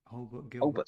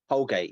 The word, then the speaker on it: Holgate: Is his name Holbert? I always get his name wrong. Holbert sounds wrong. Holgate.